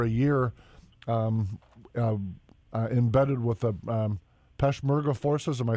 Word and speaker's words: Peshmerga: I know you spent a little over a year embedded with the Peshmerga forces. Am I saying it right? Yeah, the Peshmerga, the Kurdish fighters, which, by the way, that's